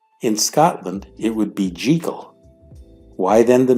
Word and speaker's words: Jekyll: the doctor's name in Scotland it would be jekal why then the mispronunciation in the 1941 film starring Spencer Tracy